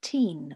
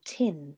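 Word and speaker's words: Teign: local river is the river teen or tin depending on how you want to pronounce it um starts up on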